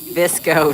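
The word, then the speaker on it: VSCO: Visco, not disco.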